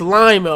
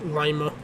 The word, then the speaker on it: Lima: It's Lima. Okay, get it straight. But yeah, all jokes aside, it's actually us locals from Lima, Ohio. We call it Lima and not Lima, because Lima is that's a Perunian.